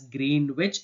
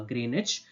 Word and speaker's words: Greenwich: this is not green which it is not pronounced as green which it is Greenwich okay that's the way you pronounce uh Greenwich in the year 1884 uh Greenwich Mean Time